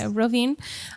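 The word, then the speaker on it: Rovinj: Did I pronounce that right? Okay, Robinj.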